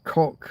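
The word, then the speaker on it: Koch: Parasocial with, I'm not going to try and guess at a Hispanic sounding name, but it's Cock.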